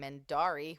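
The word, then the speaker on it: Mendarii: you can normally find me under the name mendari which is spelled m-e-n-d-a-r-i-i um I do a lot of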